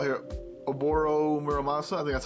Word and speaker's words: Muramasa: I guess you call your a boar Oh Muramasa that's how you say it in Japan that's